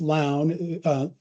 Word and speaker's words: Lown: So it's Lown, L-O-W-N, but pronounced like gown.